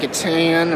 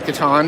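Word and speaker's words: Catan: other thing they have giant versions of different katan or katan depending on how you want to pronounce it with tokyo highway here a giant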